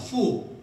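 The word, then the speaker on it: 福: 왜냐하면 복을 중국 발음으로 푸라고 읽습니다. 푸.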